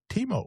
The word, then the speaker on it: Timo: This Teemo, my real name is Timothy, but I've gone